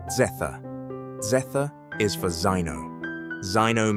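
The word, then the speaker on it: zeta: Z, pronounce zetha.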